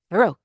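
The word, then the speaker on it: Verrocchio: named veroo We you have to say it Verio you have to say it like that it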